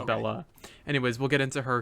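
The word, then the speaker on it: Belle-A: Yes, but she pronounces Bella.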